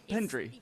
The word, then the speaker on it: Pendrigh: How do you pronounce your Pendrigh. Pendrigh.